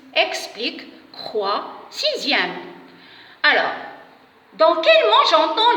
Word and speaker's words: sixième: Alors, maintenant, pour le son ZE, dans quel mot j'entends le son ZE? Bien sûr, dans les mots dixième et sixième.